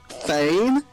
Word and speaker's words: Fane: Fane? No, actually, it's Fane.